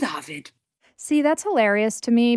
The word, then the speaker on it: Ovid: The classicists, the experts seem to say Ovid, but I stick with Ovid.